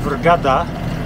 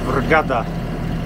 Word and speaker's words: Vrgada: and not so gusty we are heading to vergada uh gada sometimes it's a bit difficult to pronounce the qurayshian words so vergada that's the name of the island uh we